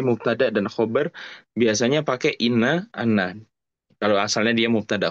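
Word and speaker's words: إنّ: Lihat setelah ama dibacanya inna bukan anna.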